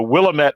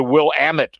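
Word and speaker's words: Willamette: inadvertently and uh erroneously pronounced the wine region that everybody knows in Oregon as the willamet valley and it's apparently the will Amit Valley I I was is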